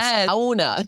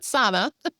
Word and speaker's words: sauna: It's It's three syllables. It's sauna, not sauna.